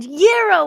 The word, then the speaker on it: gyro: Gyro with a Y is the correct pronunciation.